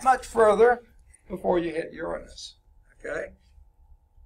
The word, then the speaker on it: Uranus: further before you hit Uranus okay and please put the accent on the first so never mind okay